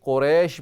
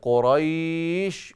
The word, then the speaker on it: قریش: قریش بھی نہیں ہے، قریش. وہ ہم اردو کے تلفظ میں قریش کہتے ہیں، عربی تلفظ ہے قریش.